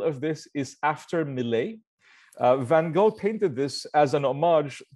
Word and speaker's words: Van Gogh: There are many, by the way, pronunciations. I only found out recently for Van Gogh. We've all heard the Van Gogh American pronunciation. I've also heard, apparently, the very strict Dutch pronunciation is more like Van Gogh. But I'll stick with the Van Gogh for now. It makes it a little bit easier.